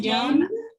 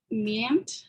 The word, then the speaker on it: viennent: Les gens à qui tu parles Les gens viennent. à qui tu parles, viennent. Viennent. No se pronuncia ni la E, ni la N, ni la T. Viennent.